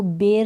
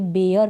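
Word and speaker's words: bear: अब इसको बेर नहीं पढ़ेंगे, बेयर पढ़ेंगे। क्या पढ़ेंगे? बेयर।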